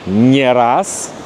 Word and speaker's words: не раз: Не раз, не раз. И здесь не, но ударение не падает на не раз и ни разу.